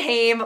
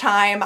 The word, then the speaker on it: Haim: seeing hey more time I say Haim but I know it's pronounced I'm I'm just like I